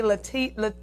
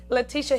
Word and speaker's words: Letitia: So anyway, all right, so I have my special guest here today, Letitia. Did I say it right? Yes, you did. Yes, Letitia Higgs.